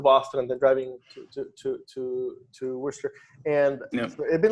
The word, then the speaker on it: Worcester: actually corrected my pronunciation, because it's spelled Worcester. It makes absolutely no sense.